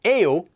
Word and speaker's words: 예요: after a consonant and Yale which is actually pronounced as a o after a vowel and you can think